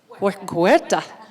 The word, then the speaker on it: Huerta: Okay, Vanessa Huerta, how do you pronounce it? Huerta? Like a G. Huerta.